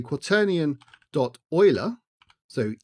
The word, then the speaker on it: Euler: to say quaternion dot Euler so e-u-l-e-r and if you're wondering about the weird spelling versus the pronunciation it's because it's named